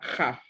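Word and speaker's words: כ״ף: Y ahí está la jaf y una pataj. Forma la sílaba ja. Y una fe sofit al final que tiene sonido de F y forma la sílaba jaf.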